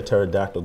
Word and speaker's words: pterodactyl: why can't you hear pterodactyl go to bathroom why cuz the p is silent you're a lot smarter